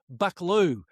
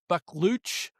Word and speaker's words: Buccleuch: Could say it many different ways, Gelding, but I heard Matt Hill pronounce it that way, and so it's Buckaloo as far as I'm concerned. Is it a Buccleuch? Well, it's spelled Buccleuch, so it could be Bucklooch. Buccleuch? It could be many things, Gelding, but I'm going with Buckaloo. It's a lot easier.